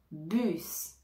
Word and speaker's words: bus: banque banque un bus bus un bus alors ici attention on va prononcer le s en général le S à la fin des mots ne se prononce pas mais ici c'est une exception on va le prononcer